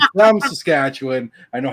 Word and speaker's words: Saskatchewan: So Saskatchewan is how I've been pronouncing it my entire life, which is almost 50 years.